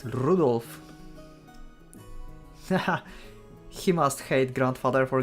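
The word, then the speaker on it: Rudolf: just country again anyway this guy name is pronounced Rudolph he must hate grandfather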